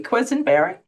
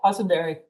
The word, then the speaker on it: Quesenberry: Now, please confirm, am I pronouncing your name properly, Quisenberry? Yes, that's it. Quisenberry.